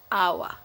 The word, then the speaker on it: hour: when, why, and vessel, and usually not pronounced at the beginning of a word, like honest and hour.